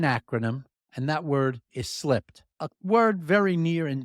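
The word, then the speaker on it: SLIPD: by using an acronym and that word is slipped a word very near and dear to all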